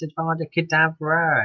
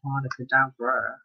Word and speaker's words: Avada Kedavra: You didn't pronounce Avada Kedavra right. It's Avada Kedavra, not Avada Kedavra.